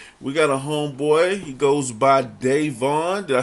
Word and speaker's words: Davon: He goes by Davon. Did I say it right? Yes. Davon.